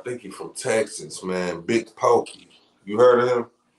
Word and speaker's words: Big Pokey: Big Pokey. You heard of him? Big Pope? Or what? How you say it? Big Pokey.